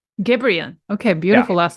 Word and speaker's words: Gebrian: It's Molly Gebrian. Gebrian.